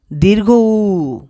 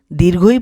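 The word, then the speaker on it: ঊ: দীর্ঘ উই এই বর্ণের সঠিক উচ্চারণ হবে দীর্ঘ উ আজকে থেকে কেউ দীর্ঘই পড়বে না চলো আরেকবার পড়ি দীর্ঘ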